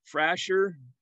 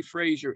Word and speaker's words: Frasher: name was burton frazier now it looks like it would be pronounced frasher but it's actually supposed to be fraser f-r-a-s-h-e-r-s i believe there's